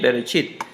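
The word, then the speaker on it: בראשית: esto se lee como, y esto se lee como chi, y esto es una T, chit, berechit, como viene acá, chit, berechit, así la pronuncian ellos, berechit.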